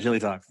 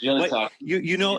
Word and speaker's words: GillyTalks: GillyTalks. GillyTalks.